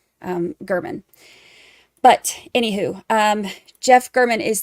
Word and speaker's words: German: But it's actually pronounced German.